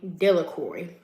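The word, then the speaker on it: Delacroix: The villagers pronounced his name Delicory.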